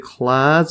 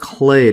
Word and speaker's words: clade: species and closely related clads are sister clads yeah and I just had a quick search on Google I think it's pronounced clay well that's what they say clay so not clad so continue back that